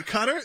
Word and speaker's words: Qatar: There are some people that say Qatar, and there's some people that say Qatar. And I'm not talking about, this is like the mainstream. And it's because they're not English words.